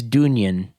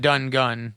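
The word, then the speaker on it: Dungen: listeners they're from sweden it's d-u-n-g-e-n it looks like it's dungeon but it's dunyan from sweden d-u-n-g-u-n d-u-n-g-e-n g-e-n so not done gun dun gen gotcha i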